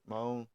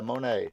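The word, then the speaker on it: Moné: What do you think of the potential of Mercedes Monet or wherever she Moan? Anyway, yeah, Monet. Sorry, uh, I mispronounced it earlier.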